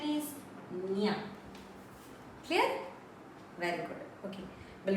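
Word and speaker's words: ಞ: Here pronunciation is nya.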